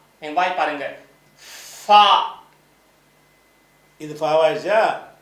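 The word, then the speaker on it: فاء: ஃபா இது ஃபா ஆயிடுச்சா? இந்த எழுத்து வந்து இங்கிலீஷ்ல ஒரு எஃப் மாதிரி. எஃப் வாசிப்போம் பாதர். அதுக்கெல்லாம் அந்த ஃபா போட்டு எழுதலாம்.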